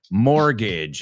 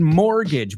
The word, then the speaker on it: mortgage: Chris Valrol says, my sister has a fixed rate mortgage. All right, fixed rate. Tipo fijo. Okay. A fixed rate. Tipo fijo. And the word mortgage, vamos a pronunciarlo. Mortgage. Rima con bridge. Mortgage. Bridge. Mortgage.